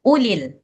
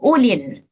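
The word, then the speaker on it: أُولِي: Wala ya tali ulul wadli minkum wasa wasaati ayu ulil Ini juga sifrun. Juga ulil. Jadi nggak panjang. Yu'tu ulil.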